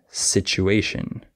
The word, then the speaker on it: situation: easy to fix also certain letter combinations like the TU can be pronounced CH sometimes like situation and du can be with a J sound like graduate okay uh or sometimes